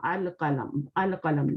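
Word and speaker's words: القلم: Because lam is, we are reading the lam, al-qalam. There is no shadda here. Okay. Al-qalamu maksuran, meaning?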